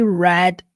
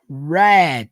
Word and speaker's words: read: O verbo ler, sim, ele pode ser pronunciado read or read. O que vai mudar? Quando você fala read, tá no presente.